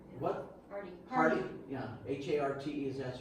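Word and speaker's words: Harte: Dwayne Hart. Was his name? What? Hardy. Yeah, H-A-R-T-E is that's how you pronounce his name.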